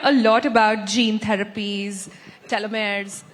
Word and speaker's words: telomeres: We hear a lot about gene therapies, telomeres, telomeres, that's how you say it.